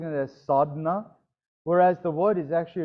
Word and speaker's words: sadhana: you pronouncing it as sadhna whereas the word is actually written as sadhana it's sadhna the a sort of swallowed up don't you hate when